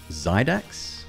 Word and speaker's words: Xidax: She partnered with a company called Zydax, spelled with an X.